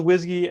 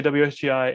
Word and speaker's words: WSGI: we pronounce it uh i will go with whiskey as gay uh sometimes i'll say wsgi and asgi i will use them interchangeably not the two terms